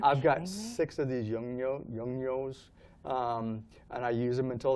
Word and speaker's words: Yongnuo: And then I've got the flashes that I use, I try to pronounce them, Yongnuo. Oh, Yongnuo, yeah.